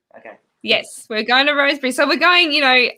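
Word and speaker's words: Rosebery: hear you sat because i was going to say rose berry or you know locals always have the way of pronouncing it so yeah the wrong way it's a rose bridge it's a bit like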